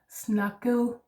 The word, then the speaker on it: snakket: So take that in, that ET endings in Danish, it's often an ending, is a soft D sound. Yeah. A lot of our participle forms actually end like this. Snakket, drukket. Yeah, that is the soft D, the ET ending.